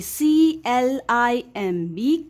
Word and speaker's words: climb: of m b here m b b is silent only m makes the sound here okay so it will be c l i m b climb this is the